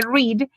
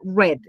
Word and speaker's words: read: Queda, lo único que cambia es su pronunciación. En presente se dice read y en pasado y pasado participio read.